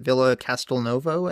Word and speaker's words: Villa Castelnuovo: Is it Villa Castelnuovo, I think is how you say it?